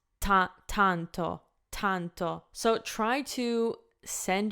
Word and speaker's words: tanto: one so door donto if I were to say with English pronunciation it would be tanto tanto so I think you can hear how dramatically different it sounds and this is like